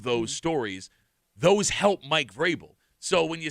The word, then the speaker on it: Vrabel: Those help Mike Vrabel.